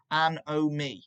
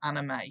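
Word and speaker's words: anomie: you can get in it's pronounced and oh me not anime so don't say anime anime if you spell it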